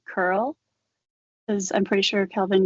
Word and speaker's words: cURL: character okay but um girl um is actually curl the creator of it